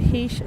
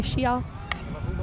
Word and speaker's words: Xia: Chen to Heesh, sorry, Xia. Just written as Heesh, sorry. Just want to pronounce it right.